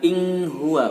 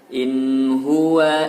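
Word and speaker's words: إِنْ هُوَ: Di situ ada nun sukun bertemu dengan huruf ha, maka dibaca izhar atau jelas, maka nun sukunnya dibaca nun sukun biasa. In huwa, bukan ing huwa, bukan ya. Itu ikhfa dan di situ hukumnya bukan ikhfa, tapi izhar, jadi jelas.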